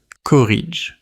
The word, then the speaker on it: corrige: Today's word is corrige. Say it with me. Corrige. The French soft G is like the sound in giraffe, not the hard G in go.